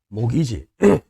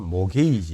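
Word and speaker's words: mortgage: 모기지. 이 T는 묵음이니까 발음하면 안 되겠지. 모기지 또는 모게이지 이렇게 표현하는데요.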